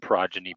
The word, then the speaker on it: Progyny: But again, that's Carrot, like spelled like the vegetable, and Progeny, PROGYNY.